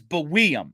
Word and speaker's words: Buium: Now I have one question about, you're saying Buium on Elite Prospects. It's the pronunciation guide is Buium. Have you heard that at all, or are you confident in Buium? I have watched tape, and every game I've watched has called him Buium.